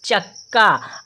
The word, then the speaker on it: चक्का: अब देखें, जो आधा का है उसका उच्चारण हम कम समय के लिए करेंगे और फिर यहाँ पर देखें का में बड़ा आ की मात्रा है तो का जो उच्चारण है बड़ा आ की मात्रा लगी है तो थोड़ा सा ज़्यादा समय के लिए करेंगे, और जो आधा का है उसका उच्चारण हम कम समय के लिए करेंगे, तो हम इसे पढ़ेंगे चक्का।